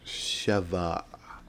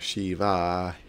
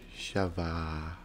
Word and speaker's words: Sheva: If I remember, that is how you pronounce her name, right? Sheva. It's not Shiva. Sheva.